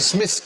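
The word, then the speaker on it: Psmith: there was a character Smith could Smith who spelled his name with the silent P could tell when people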